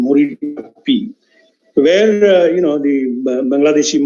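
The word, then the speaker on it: Marichjhapi: basically an island called mori chappie i also that's the correct bengali pronunciation morita p where you know the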